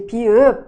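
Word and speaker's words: 비읍: E mais uma outra característica de Pi, U é que é como nós vamos pronunciar mais seco. Então, muitas vezes você vai achar que é um som de P de pato, mas não é B de bola, tá? Só que é mais seco, tá? Então, não é B, é P. Mais uma vez, é P, P.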